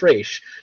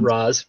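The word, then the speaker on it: Ra's al Ghul: we for this series because this is how they pronounce it in this iteration it's race not Roz Rach it's because it's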